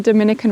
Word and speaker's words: Dominica: The first is that Dominica isn't the same place as the Dominican Republic. They're not even pronounced the same because Dominica, as you can tell, is pronounced more with an E sound.